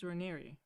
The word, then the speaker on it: Raniere: You know that it's Raniere, right?